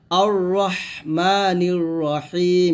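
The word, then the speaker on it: الرحمن الرحيم: এই আয়াতে আমরা নামাজে যে ভুলগুলো করি সেটা হচ্ছে আর রাহ বলি আর মানির রাহিম বলি, তো এই ভুলগুলো করলে কিন্তু নামাজই হবে না, তো এই ভুলগুলো করা যাবে না, বলতে হবে আর রহমানির রহিম।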